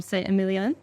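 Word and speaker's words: Saint-Émilion: You're from Saint-Emilion. I think I got that pronunciation right.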